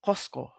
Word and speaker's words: Cusco: Then the capital city of this whole nation was Kosco and Kosco or Kusco nowadays pronounced in Spanish uh used to be uh located right here southeastern area of the of the country of Peru nowadays.